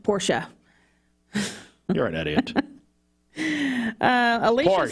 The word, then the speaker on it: Porsche: and he also said to tell you it's pronounced Porsche you're an idiot uh Alicia Sloan says extra